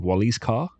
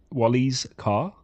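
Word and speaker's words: Wallyscar: Like Tunisia has manufactured, they've got a car called Wally's car because they know there's a problem with importing cars in Tunisia and how expensive it is to purchase a car, Okay.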